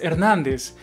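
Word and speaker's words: Hernández: Мне пришлось уточнение, что моя фамилия, как в другом видео сказал, что это Эрнандес, а на латинском пишется через Z, но по произношению как S, Эрнандес.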